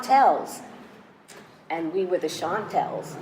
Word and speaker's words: Chantels: and we were the shantel's nobody pronounced it correctly they flattened the a and made us the shanty of the shanties and all these years wonderful so I know that you auditioned for mr.